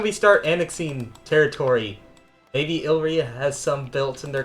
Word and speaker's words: Illyria: it was over here I keep saying it wrong and I know it it's Illyria yes we will I do have Illyria for the letter i and we can get the man himself oh not Elyria Elite t but look